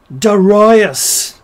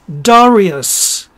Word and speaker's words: Darius: or my other favorite darius no it's darius all right sick and